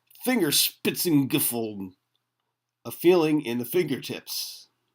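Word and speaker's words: Fingerspitzengefühl: I like that word I wish I knew how to say it properly if anyone wants to give that one a shot Germans say fingers spitting giffle a feeling in the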